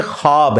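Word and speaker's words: خواب: नहीं आ सकता अच्छा यह लज लिखने में है ख्वाब ख व अलिफ बा लेकिन पढ़ने में यह खवाब है वा साइलेंट हो जाता है खवाब पढ़ा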